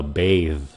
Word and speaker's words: bathe: Chữ kia là bathe. Nó phát âm nó cũng giống giống nhau.